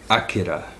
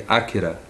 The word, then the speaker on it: Akira: if the greatest anime film of all time Akira that's the actual pronunciation pronunciation by the way some people say Akira but it's actually Akira and just for the record well most people